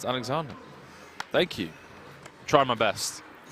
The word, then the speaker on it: Alexander: Alexander is pronounced Alexander.